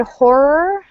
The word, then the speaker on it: horror: One note about the word horror. It's really hard to pronounce. So one option is to pronounce horror. So it's basically horror with a lot of R's.